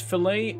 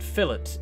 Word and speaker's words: fillet: I've been descent now it's pronounced fillet in America and fill it in the UK that's why I was